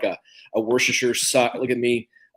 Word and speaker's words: Worcestershire: And I guess it's like a Worcestershire sauce. Look at me pronounce it correctly.